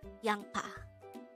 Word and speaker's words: 양파: combine the angle for each of this two syllables to form the handle of the word young pa now let's try to look into this example